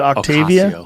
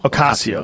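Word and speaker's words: Ocasio: Is it Octavia? Okasio.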